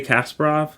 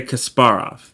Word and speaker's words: Kasparov: weird Gary Gary I always used to say Gary Kasparov and I know that's not right so let me I'm trying to figure out how to say it in the Russian accent or Russian pronunciation not accent Gary Kasparov that's it my apologies